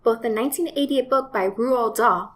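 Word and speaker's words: Roald Dahl: the 1988 book by rural DA and yes that is how you pronounce it and the 1996 movie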